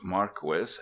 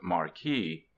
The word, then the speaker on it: Marquis: It is pronounced Marquis, not Marquee.